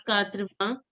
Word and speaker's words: quatre-vingts: Sita, can you pronounce quatre-vingts? Quatre-vingts. Vang. Only vang. Till N. Vang. Yes. It has to be a nasal sound.